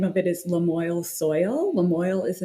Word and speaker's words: Lamoille: Lamoille is the name of the county in Vermont, and people struggled to pronounce it. So I was like, hey, I love a good rhyme. Let's call it Lamoille Soil.